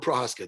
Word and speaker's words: Prochazka: Teixeira versus Prochazka. How did I do that with Prochazka? Did I pronounce that okay?